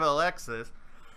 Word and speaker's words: Alexis: We also have Alexis, or Alexi, because the S is silent, which is...